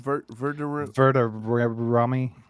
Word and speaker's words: Verderame: How do you pronounce his name? Matt Verderame? Verderame.